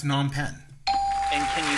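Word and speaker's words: Phnom Penh: Uh, it's non pen. And can you spell it?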